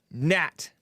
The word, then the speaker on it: gnat: earl is a human gnat nat it's spelled with a g right kind of like no